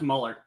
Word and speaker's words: Muller: Hey, it's actually pronounced Muller. It's Muller.